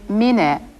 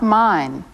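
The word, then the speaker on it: ミネ: Be sure to pronounce his name Mine, not mine.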